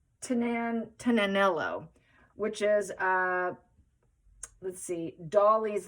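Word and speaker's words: Tignanello: The G is silent, apparently. It's supposed to be pronounced Tinanello, which is, let's see, Dolly's Life told me that's how you pronounce it.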